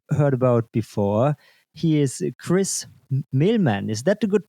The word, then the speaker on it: Chris Mehlman: He is Chris Milman. Is that a good pronunciation?